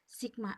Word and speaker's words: Sigma: gaya pengganti atau gaya total itu dilambangkan dengan Sigma X seperti ini Ini bacanya Sigma ya Sigma F berapa resultan gayanya